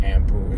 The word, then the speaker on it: Anpu: for another time but it takes it more back to how it was pronounced in ancient Egypt and ampu is more of a